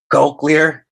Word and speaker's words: cochlear: That is cochlear. Cochlear is how it's pronounced.